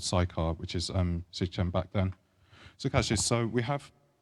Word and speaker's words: Shechem: And interesting enough, the place, Shaun mentioned, it's called Shechem. Some translations pronounce it as Sechem.